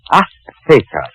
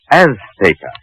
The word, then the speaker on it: Azteca: Azteca. She gave the Z a TH sound. That's Castilian Spanish. Mexican or any Spanish American would say Azteca.